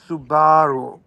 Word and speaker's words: Subaru: forest it's like the forest can we please pronounce it properly it's Subaru well he had the biggest super Subaru and